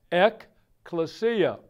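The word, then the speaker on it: ἐκκλησία: you would pronounce it, take the Greek letters and put English letters, it would sound like ekklesia.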